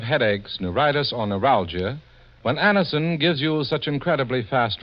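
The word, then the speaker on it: Anacin: It's spelled A-N-A-C-I-N. Anison. Now for Mr.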